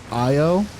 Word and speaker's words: Io: Yeah, Io, which is also an awesome name for a dog. Io is how you is a good spell it. name. It's literally pronounced how it's spelled, which is my favorite kind of word.